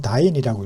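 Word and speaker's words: dyne: 이렇게 바꾸면 MKS 단위로 힘의 단위는 뉴턴인데 CGS 단위로 힘의 단위는 다인이라고 읽습니다.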